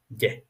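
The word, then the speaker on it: gai: I know that for some of you it may seem the pronunciation may lead up to some confusions, but it is far from that. It is just ge, which means happy.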